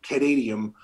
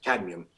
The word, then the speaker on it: cadmium: it also chelates lead arsenic and they think canadium if i'm pronouncing that correct yes cadmium um so these basically draw out and it